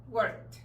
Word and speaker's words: worked: Si yo quiero decirlo en pasado, digo worked. ¿Cómo se oye? ¿Como T o como D? Worked. Worked. Como T, ¿verdad?